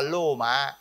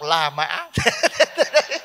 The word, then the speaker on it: La Mã: Nhưng mà người Tàu không đọc Roma, đọc là Lô Mã. Thế người ta đọc Lô Mã, mình đọc La Mã.